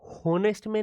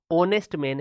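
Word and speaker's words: honest: तो ये जो लिखा है, अब इसको पढ़ के देखिए, ऑनेस्ट मैन, ये होनेस्ट मैन नहीं है मेरे भाई, ये क्या है, ऑनेस्ट मैन है। एच इसमें साइलेंट रहता है।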